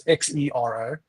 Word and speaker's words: Xero: There's Sage, there's Xero, which is spelled with the X, so it's Xero.